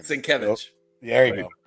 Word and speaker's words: Sienkiewicz: And I feel I Bill Sinkovic. I mean, Mike, say it for us, please. I don't do it justice, man. Say his name. Sienkiewicz.